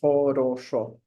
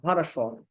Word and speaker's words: хорошо: So it's supposed to be like хорошо. But no, like хорошо. The O sound is going to be O only when it's a strong syllable.